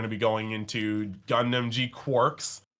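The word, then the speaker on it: G-Quuuuuux: That says G-Cucks. But as confirmed by many Bandai staff, it is G-Quarks.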